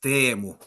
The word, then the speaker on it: Teemu: It's pronounced Teemu in Finnish.